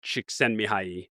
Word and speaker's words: Csikszentmihalyi: And I was really lucky to read the book Flow by Mihaly Csikszentmihalyi early on Nice. The pronunciation is pretty I had to practice